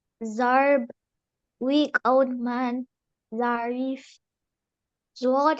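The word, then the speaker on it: ضاد: Zwad has one dot on it. It sounds close to the letter Z of English language.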